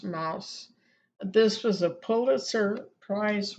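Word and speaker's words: Maus: looks like mosque but in German it's pronounced Mouse this was a Pulitzer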